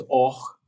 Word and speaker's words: Orch: Orch, which we would pronounce as och, but orch is the safe way, and as he says,